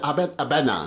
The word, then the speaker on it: Abena: So you pronounce it Abena. Abena. So it's actually a Ghanaian name, which I know you are. Yes. So basically, Abena is, in Ghana we say Abena. Yes, they say Abena. Abena.